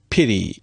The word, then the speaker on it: pity: In fact, in many forms of American English, they pronounce this word as pity. Pity. If you pay attention, you can see that there is a single tap against the alveolar ridge.